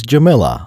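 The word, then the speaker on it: Jamillia: That second I is a bit debatable. Captain Typho pronounced her name as Jamila.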